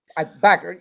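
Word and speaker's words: Bueckers: two players tonight that Paige Beckers or Buers, I don't know how you pronounce it. Backer Backer, right? Yeah.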